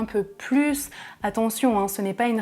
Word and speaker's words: plus: je voudrais un peu plus d'eau », c'est la règle numéro 1 de la partie 2. C'est une quantité positive, phrase affirmative, donc je prononce le S à la fin du mot plus.